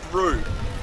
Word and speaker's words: through: with these words so the first word through as in we drove through the tunnel so the oh you gh must mean we say okay then we